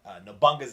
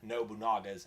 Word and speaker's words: Nobunaga: remit sorry done so i used to call it ana bunga's ambition now I caught nobunaga's ambition so because I got